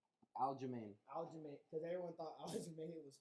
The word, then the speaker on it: Aljamain: Aljamain.